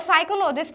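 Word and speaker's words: psychologist: ठीक है स्टूडेंट्स, तो बैले में हमारा टी है, विसिल में हमारा टी है, अलार्म में हमारा आर है और साइकोलॉजिस्ट में हमारा पी है।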